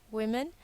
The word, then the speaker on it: women: You have a couple of irregular plurals, and these you just have to learn by heart, as in man, men, woman, women. Notice the pronunciation change.